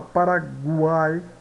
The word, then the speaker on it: Paraguai: Veja a palavra Paraguai, guai, né? O pronunciado, uai, né? Todas essas letras aqui são pronunciadas, né?